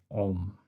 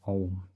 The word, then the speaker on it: Om: It is the sound of Om, or Om, depending on how you say it.